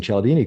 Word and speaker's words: Cialdini: And congratulations on pronouncing Cialdini correctly, because that's I've got what one anybody right.